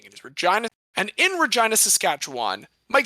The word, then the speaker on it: Regina: It is, by the way, everyone, I hope you know it's pronounced Regina. It is not Regina like King. It is Regina.